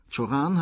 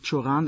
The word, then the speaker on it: Cioran: Der Name kann rumänisch, französisch oder auch deutsch ausgesprochen werden. Cioran hat alle drei Formen akzeptiert.